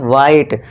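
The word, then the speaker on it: white: क्योंकि यहां पे एच क्या है? साइलेंट है। और यहां भी व मत करना। ये वाला। व नहीं ये गलत हो जाएगा। क्यों? क्योंकि यहां एच है हमारा साइलेंट है। तो बस डब्ल्यू आई टी ई ही पढ़ना है।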